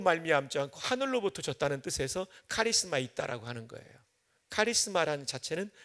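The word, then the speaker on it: χάρισμα: 발음교를 써드리면 이렇게 돼요. 카리스마.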